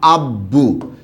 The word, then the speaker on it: আব্বু: অর্থাৎ এখানে বফলার উচ্চারণ বয়ের মতো হবে, দ্বিত্ব প্রয়োজন নেই, দ্বিত্ব করলে ওইটাই হইতো।